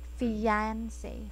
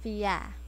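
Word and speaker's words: fiancé: and i think um it's better to improve the the ia sound so since it's i i fiance fiance it's it's better if we use the y sound so yeah fiance that's better that's better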